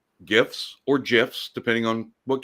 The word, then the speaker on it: GIF: don't have to, but if you want to pronounce it right, it's GIF, but I don't care if you want to pronounce it right or not.